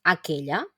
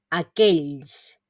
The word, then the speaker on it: aquells: de difícil pronunciación aquells lo mismo no me digáis aquel sino que es preferible en lo que vamos puliendo el sonido decir a casis mucho mejor aunque no es la pronunciación correcta vale la pronunciación correcta sería aquells entonces aquells significa aquellos